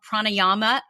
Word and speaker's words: pranayama: and end every session with what they called pranayama is that am i pronouncing that right yes yeah that's perfect yeah